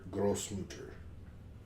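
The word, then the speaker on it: Großmutter: It's like their weird looking B letter. But it's a kind of an S. It's like Grossmutter. Grossmutter? Grossmutter.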